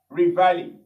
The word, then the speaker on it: reveille: Here also, here, E is pronounced E, like this. So the complete word becomes reveille, okay?